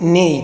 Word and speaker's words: ney: Die Unterschied ist, es gibt, weil andere, man nennt Nei, das ist in der Türkei. In der Türkei, man also nennt Nei, Nei, Nei und schreibt man das N-E-Y, aber das Arabische ist Nai, ist mit N-A-Y.